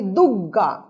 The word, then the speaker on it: দুর্গা: যেমন দুর্গা আমরা বলি দুগ্গা, গয়ে গয়ে, গয়ে রেফ আমরা উচ্চারণ করতে একটু অসুবিধা বোধ করি।